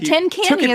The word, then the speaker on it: Tincani: But Tincani is correct.